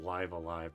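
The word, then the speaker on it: Live A Live: I know it's pronounced live alive, by the way, but I don't like saying that.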